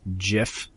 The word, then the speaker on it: GIF: is Downey Jr saying it's pronounced GIF like with a j instead of GIF what's